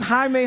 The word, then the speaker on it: Jaime: no Jade there's no J in there's no J in Spanish hold on we got somebody who might be able to help us uh no that's that's that's Jamie Jakes bro how do